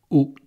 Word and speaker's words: haut: Ou alors, haut. Quelque chose de haut, on peut dire aussi une chose haute. Une chose haute, on entend le T. Donc vous saurez que haut au masculin prend un T.